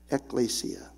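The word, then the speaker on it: ἐκκλησία: Testament scriptures for our English word church is pronounced eaia eklesia say that along with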